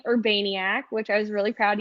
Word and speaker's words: Urbaniak: my first name my last name urbaniac which i was really proud you did say